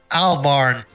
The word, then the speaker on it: Albarn: Uh, how do you pronounce Maka's last name? Albarn.